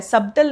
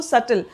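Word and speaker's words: subtle: यहां पे B silent है। सबटल नहीं कहते इसको सटल। सल डिफरेंस और डिस्टिंशन।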